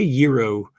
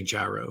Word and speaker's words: gyro: Well, I say Euro and I feel like they always look at me just just say gyro. Just say gyro. Everyone else says gyro because I'm from the south.